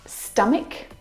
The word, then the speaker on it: stomach: Words like stomach and ache. The CH in all of these words is pronounced like a K sound.